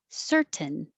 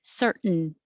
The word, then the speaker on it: certain: thing happens with certain you can say perfectly with a t certain or make it shorter certain certain just hold it and that's it so